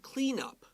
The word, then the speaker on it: cleanup: be much cleanup okay listen to how i say this clean up it's a noun so we stress the first word now maybe your teacher will tell you to clean up your mess they're going to stress the second word because it's a verb yeah clean up what